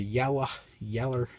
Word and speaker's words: Yella: This is the Yeller Durlin.